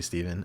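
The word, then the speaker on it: Stephan: My name's Steven. So the PH and an A. So you'd think it's Stefan, but it's actually Steven.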